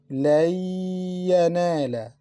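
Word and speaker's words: لن ينال: لَن يَنَالَ. لَن يَنَالَ. We didn't pronounce letter Noon because we mixed it into letter Ya. We pronounced Ya twice.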